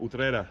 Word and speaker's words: Utrera: At the moment, we're in Utrera. Is that how you say it? Utrera.